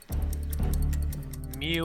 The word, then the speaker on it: mu: For example, the sample mean is represented by x bar, and x is a horizontal line above it, and mu is pronounced mu.